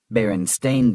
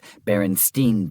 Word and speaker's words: Berenstain: Berenstain Bears versus Berenstein Bears. Everyone remembers it being the Berenstein Bears, but in reality, it's Stain.